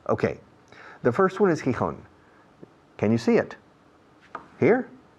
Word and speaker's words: Gijón: Gijón. All right. Gijón. And the rest, can you see them? I can see them. La otra mano. Okay. The first one is Gijón.